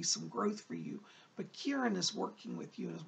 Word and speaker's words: Kiran: around this K I are a in he pronounces a Kiran but Kiran is one of your spirit people